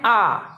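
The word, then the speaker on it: hour: H is silent and we pronounce it from O. O is a vowel. So an R.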